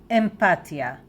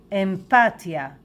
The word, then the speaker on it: אמפתיה: a lone word looks a bit the same empathia empathia and this is how we pronounce it empia empathia empathia if you want to know more about